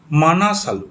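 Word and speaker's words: Manaslu: এটা ধোলাগিরি ইংলিশে লেখা হয় Dhaulagiri Annapurna মাংসালু এম এ এন এস এ এল ইউ মানাসালু ঠিক আছে মাংসালু বলছিলাম আমি তারপর তারপর গৌরীশংকর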